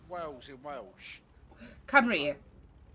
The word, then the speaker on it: Cymru: Cymru. Cymru.